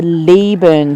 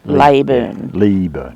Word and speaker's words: Leyburn: to the Sprints um the Lee burn Sprints not labor and we've been pronouncing it lay Boone but locals have told us it's Lee burn so sorry about that